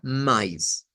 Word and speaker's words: mais: De hecho, yo les diría, miren, si quisiéramos sonar como brasileños, el sonido debería ser este para esa palabra, mais, en vez de cualquiera de los otros.